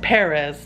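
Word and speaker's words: Pérez: there we go and it's not even Perez it's Perez technically in Spanish but you know but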